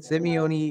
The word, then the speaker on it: Simeone: the show, Gina and Lisa from the KTGY Simeone. Yes. Did I say it right? What you did. Simeone, yeah.